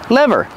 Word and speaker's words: lever: do you pronounce lever lever this is the brake lever use the short s sound like bed and 10 le le lever this is a brake